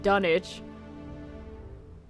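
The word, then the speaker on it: Dunwich: So the village in England by the same name is pronounced Dunich.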